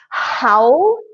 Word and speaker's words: howl: So the first word is howl, and you must create that aspirated H. So howl.